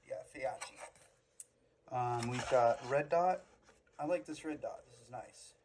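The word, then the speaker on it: Feyachi: The optics, which are Faiachi. That's how you pronounce it. Yeah, Faiachi.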